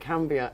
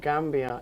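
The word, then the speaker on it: Kambia: to find it and he said no i'm mandinka and so we pronounce it cambia and not gambia it's slightly different in pronunciation so you're home i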